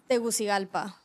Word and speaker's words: Tegucigalpa: How do you pronounce that? Tegucigalpa.